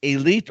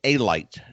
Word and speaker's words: Alite: His name is John Elite, or pronounced Elite or Alite, depending on how you want to pronounce it.